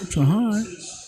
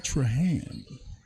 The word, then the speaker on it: Trahan: left on the clock Tran looking to get to put Franklin County up by one Trahan I'm sorry I've been pronouncing my man name wrong the whole time Trahan doing big things for